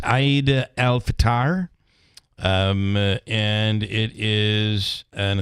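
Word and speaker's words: Eid al-Fitr: Frozen four um so how do we pronounce this holiday today if people are asking it's Aid alatar um and it is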